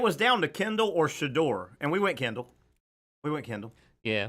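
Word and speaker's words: Shedeur: Is that how we're pronouncing his name? Shador.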